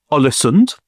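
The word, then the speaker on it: Ålesund: His family are actually big in the business of exporting dried and salted fish in a town called Olisonund, which uh I know is the correct pronunciation.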